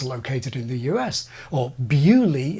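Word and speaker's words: Beaulieu: in the US or beulie in Hampshire England bewley is a beautiful little village by me with a motor museum they have all the old school murders as well uh a beautiful place bewley yep but please you can tell by the ieu that it's clearly not an English word but I think that's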